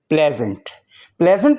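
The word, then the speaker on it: pleasant: प्लेजेंट का मतलब है खुशगवार। प्लेजेंट में ई साइलेंट है और एस जेड की आवाज़ देगा।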